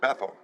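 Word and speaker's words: Bethel: the one in Tennessee mhm that that's bethl bethl yep they they call it bethl I know people call it bethl and all that but yeah I'm from that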